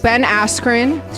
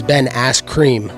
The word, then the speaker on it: Askren: Ben Askren. You said it wrong. It's Ben Askren.